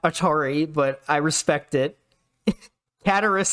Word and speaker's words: Cataris: Cataris is pretty clearly not Cataracts.